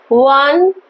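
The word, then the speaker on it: one: देखो इसका प्रोनाउंसिएशन देखो, वन, क्या है इसका प्रोनाउंसिएशन? वन, वाह आ रहा है इसका प्रोनाउंसिएशन में, वाह आ रहा है मीन्स क्या है? कॉन्सोनेंट साउंड है।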